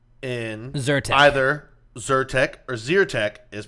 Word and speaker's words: Zyrtec: eat or burn so is it zero tech like eat or zyrtec like burn keep in mind I was born and raised on the side that won the Civil War and I pronounce it like eat so he pronounced it z ur tech no it's Zyrtec it's zyrtec okay do you